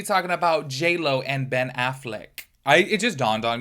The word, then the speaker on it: Affleck: I was like oh I have always said afflac not Affleck Affleck I feel like I still say it wrong to be quite honest with you but I'm just like wait why have I been saying it like that forever like the afflac like um Insurance that's how I've been saying